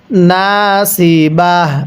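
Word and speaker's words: ناصبة: এরপরে নাসিবাহ কিভাবে পড়ব নাসিবাহ আমার সাথে মিলিয়ে পড়ুন আমিন নাসিবা এই সদকে সদ উচ্চারণ করব অনেকেই সদকে সিন উচ্চারণ করি এরকমভাবে পড়লে পড়াগুলো সহ শুদ্ধ হবে না।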